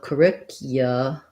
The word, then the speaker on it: curriculum: the word curriculum curriculum so second syllable stress there the ur just says the er sound sounds like and then this cu has a glide in it a yeah sound so curriculum curriculum curriculum you might hear a